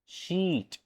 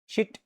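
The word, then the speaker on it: sheet: देखिए, शीट, बीच, हीट, यहां क्या लिखा है, इसको क्या कहेंगे, शिट, बिच, हिट। दोनों में डिफरेंसेस क्या क्या है, प्रोनाउंसिएशन पे जाएगा प्लीज। शीट, ये क्या है, शिट, बीच, बिच, हीट, हिट।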